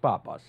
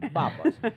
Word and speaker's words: Pappas: it want is Papas bra Pap it almost with a B but it's a p Papas but my original name